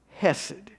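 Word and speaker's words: חסד: hesad the initial c is silent so you pronounce it as hesed it's a hebrew word that recurs in the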